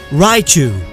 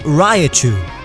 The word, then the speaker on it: Raichu: But now that you know the official pronunciation, don't do it again. It's Pidgeot. Ekans. I heard Ekans before, it sounds weird. Raichu. It's not Raichu.